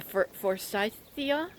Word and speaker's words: forsythia: it's great you know an early bloomer the forsythia that's how you pronounce it um i thought it's a great